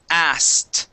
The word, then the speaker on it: asked: Now the trick with this word as well is that we drop the K. The K is not pronounced, and we say asked.